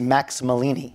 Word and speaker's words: Max Malini: a magician yourself is Max Malini we name that his name rhymes with Houdini so it has a